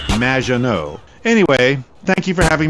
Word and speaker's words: Maginot: Maginot, welcome to the show. Thanks, Amy. However, you have mispronounced my name. It's Madge, which rhymes with badge, as in duh, and no as in more than you. Maginot.